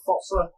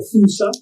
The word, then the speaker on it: fossa: And their main predator in the wild, everybody pronounces the animal differently. It's either fossa or fusa.